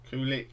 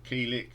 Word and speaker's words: Kulick: band's final album with bruce kulick or kilik depends on how you pronounce it i say kulik and it was the